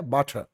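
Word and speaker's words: butter: বাটার আর উচ্চারণটা শেষে না করলে বাটার।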